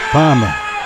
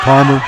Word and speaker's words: Palma: Many people think you're from Boston, Jim. Palma. Oh, Palmer. Yeah. That's no R's in it.